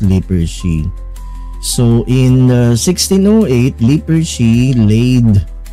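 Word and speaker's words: Lippershey: So pag nagtuturo kasi ako ang pronunciation ko po diyan ay liper she Hans lipers she.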